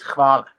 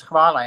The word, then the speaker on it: hvala: The pronunciation for thank you is hvala. Yeah. H-A-L-A. And you pronounce hvala, and then like these Australians were like, "What do you mean koala?" And I'm like, Hvala. like, instead of koala, just put H, and that's gonna be like hvala.